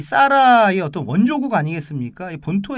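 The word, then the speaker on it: Zara: 나죠 예 근데 그것을 스페인 발음으로 싸라 라고 합니다 싸라 우리 하란 우리나라 발음 이구요 으 싸라 라고 하는데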